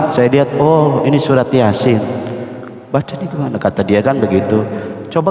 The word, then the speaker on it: Yasin: ya a-nya dua kemudian didempetkan di sini maka bacanya Yasin bukan ya asik masa iya Asik ya kan